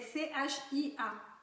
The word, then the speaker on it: chia: Oui, c'est CHIA, Chia. Les graines de chia. Alors, ça se prononce kia, mais ça s'écrit chia.